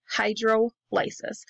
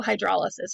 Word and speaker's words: hydrolysis: Hydrolysis. So hydrolysis, you can pronounce it either way, right? Hydrolysis, hydrolysis. But we're using water to break or lyse apart those bonds.